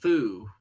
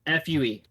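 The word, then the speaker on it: 笛: called well in Japanese it's called a fu yeah Fue I thought it was Fu like that was how it was spelled hey that's mean oh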